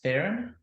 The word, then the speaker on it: Theran: how to pronounce it I often say to people if if when you see me you think either you need therapy or ironing therapy that's the way to remember you pronounce it Erin so you take the